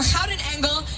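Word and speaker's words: Gouden Engel: Now, the name of our organ is the Golden Angel, or Houten Engel, as it is pronounced in Dutch.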